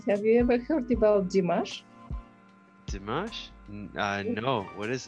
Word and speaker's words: Dimash: it d-i-m-a yeah s-h d-i-m-a-s-h-o dimash could d-mash better again yes correct ah okay i'm gonna